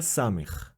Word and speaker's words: Samekh: Next is the letter Sam. The letter matches the English letter S or a soft C.